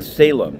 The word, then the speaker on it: Salame: waiting to hear when Ryan Salem that's how it said Salem it's spelled with a knee on the end when Ryan Salem the